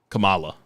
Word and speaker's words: Kamala: kamla communist coma coma how do they mispronounce pronounce it it's like coma Kamala no Kamala is correct yeah Kamala Kamala that's what it is okay I'm so